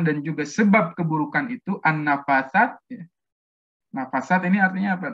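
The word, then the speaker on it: النفاثات: Maha Suci Allah ya, an-nafasat. Itu kan dari segi pengucapannya pun, ya, kalau dari tulisannya kan an-nafasat, ya, harusnya itu tulisannya tuh sini kan ya, ada tanda berdiri ya, harkat berdiri.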